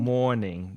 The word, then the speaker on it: mourning: dwell it's um morning morning morning not morning morning evening afternoon no morning M oouu u r n i n g but this is the same pronunciation as morning or afternoon so if you are in mour